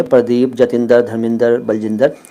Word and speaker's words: प्रदीप: पंजाब में तो इस तरह से चलते ही है, प्रदीप, जतिंदर, धर्मिंदर, बलजिंदर, लेकिन आपका सही जो उच्चारण होगा ना नाम का वो होगा प्रदीप। प्रदीप, प के नीचे वो जो र लगता है ना, प्रदीप, लेकिन